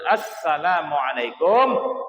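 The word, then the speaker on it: السلام عليكم: pakai alif lam ya jadi bacanya harus as tuh ya tasdid di atas huruf Sin ada tasdid berarti bacanya assalamualaikum warahmatullah itu minimal Assalamualaikum itu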